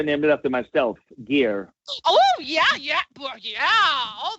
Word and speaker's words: Geir: exactly so it's uh it spells you know g-e-i-r but it pronounced like gear so I just tell